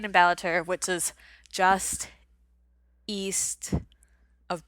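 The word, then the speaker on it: Ballater: we stayed in balatur i don't know exactly where the emphasis on which syllables should be but we say balater which is just east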